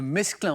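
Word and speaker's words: mesclun: Batavia, le mesclin, on prononce bien le S, on est d'accord, hein?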